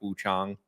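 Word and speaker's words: Wuchang: And I was like, "I'll try Wu Chong Fallen Feathers, right?" because apparently it's pronounced Wu Chong as is from what they've been telling me in the game.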